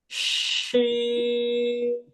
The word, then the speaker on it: ش: এই হরফের নাম শিন।